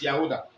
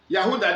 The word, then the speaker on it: Yehudah: But the original pronunciation is Yehudah. Hallelujah. Because of clarity purposes. Yehudah, the book of Jude, chapter, Jude is only one chapter.